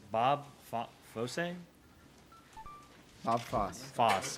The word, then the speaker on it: Fosse: Fosse. Okay, the E is silent for some reason. It's French. The double S.